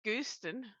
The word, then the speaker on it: Gooston: It sounds like Oh, I like Gooston. Goose Pronounced like good. Houston, but with a G.